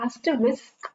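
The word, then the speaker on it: asterisk: इसकी जो प्रोनाउंसिएशन है उसके अंदर आपको एस्टरिस्क बोलना है।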